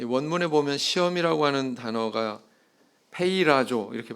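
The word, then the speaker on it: πειράζω: 이 원문에 보면 시험이라고 하는 단어가 페이라조 이렇게 발음하는데요.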